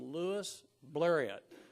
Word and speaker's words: Louis Blériot: when a fella named Louis blériot now if you look that up there are a million pronunciations of Louis blériot poor fella Louise Marriott